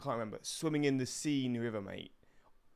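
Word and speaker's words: Seine: remember swimming in the scene River mate the scene yeah the scene I think it's how you pronounce it mate how was that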